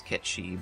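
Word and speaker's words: Cait Sith: Moogle cat combination called Kate Sith. Or I think the Japanese pronunciation is Ketshi, but I'm just saying it how his name actually looks.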